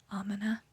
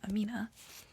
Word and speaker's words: Amina: Any character named Amina, or as some people may say, Amina, which is not how you say my name personally. So I'll say her name like how I say mine, Amina.